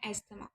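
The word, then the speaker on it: asthma: पढ़ेगा तो बोलेगा एस्थमा, लेकिन आपने टी को साइलेंट रखना है, टी की कोई आवाज़ नहीं है, इसको हमने पढ़ना है एस्थमा।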